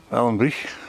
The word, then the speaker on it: Ballinbreich: Ballinbreich. I'm probably pronouncing that wrong. It's definitely no break. It's got to be Breich. Get the phlegm out.